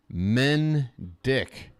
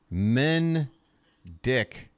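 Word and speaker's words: Mendick: loow away to Danny men dick m n men D K dick Danny men dick just making sure everybody knows how to pronounce it one- one count there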